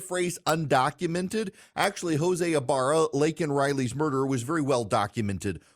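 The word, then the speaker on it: Laken Riley: policies put in place was able to murder Lake and Riley and we now know Joe Biden is more concerned with using the phrase undocumented than he is with mispronouncing lak Riley's name calling her Lincoln Riley he essentially is willing to apologize to Lake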